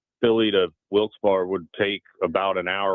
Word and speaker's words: Wilkes-Barre: And the customer of mine out there said, "Oh, it's Wilkes-Barre." I said, "Well, that's not how you spell Barry." And they said, "Yes, Wilkes-Barre."